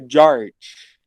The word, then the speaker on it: Georg: Então, não é assim que se escreve o Jorge dele, Paulo. É George.